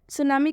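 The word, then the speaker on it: tsunami: से सी एच है, लेकिन फिर भी सुनामी में टी साइलेंट हुआ है क्योंकि ये एक्सेप्शन में है। सुनामी का मतलब होता है सुनामी।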